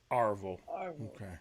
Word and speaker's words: Arvel: her well i've been i've been pronouncing your name arvel isn't it just get put some put some twang in it marvel arville it's backwoods i'm the fourth orville